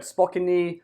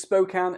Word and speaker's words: Spokane: city name i've heard spockany spokane spockane it's spokane as in beer can and with close to